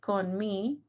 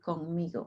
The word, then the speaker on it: conmigo: Do not say con me. You might think that's how you say it, but it's actually conmigo. That's how we say it, with me.